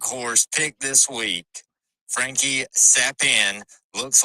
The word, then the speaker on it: Capan: So on your DraftKings lineup, it's going to look like it is Frankie Capan, but it's actually pronounced Frankie Sappin.